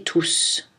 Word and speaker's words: tous: Lorsque tout est un prédéterminant, c'est-à-dire lorsqu'il est suivi par un article ou un adjectif possessif ou démonstratif, on ne prononce pas le S. Exemple, tous les jours, tous mes amis, tous ces livres.